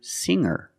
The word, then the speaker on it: singer: change sing to singer when I change these words with ER I don't pronounce the G sound it's just the nasal M linked together with the r together hanger hanger there's no G sound I cannot say hanger